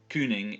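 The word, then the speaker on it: cyning: says God and then Kooning is Cyn ing so that's that you sound again is pronounced like an oozy God Kooning which literally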